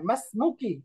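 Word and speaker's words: ما اسمكِ: হ্যাঁ, মাসমুকি, হামজাটা উচ্চারণ করার দরকার নেই, মাসমুকি ইয়া উখতি।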